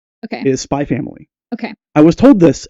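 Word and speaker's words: Spy × Family: It's not, you do not pronounce the X. Okay. It is Spy Family.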